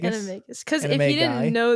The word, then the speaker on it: Animagus: Yeah, Animagus. Animagus.